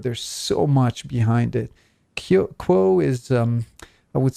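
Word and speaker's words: Q'uo: You guys at LL Research still channel, and at this point you channel an entity named Quo, if I'm pronouncing the name. Yes, yeah, that's right.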